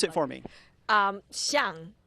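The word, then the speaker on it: 象: Xiang, which is very similar to xiang.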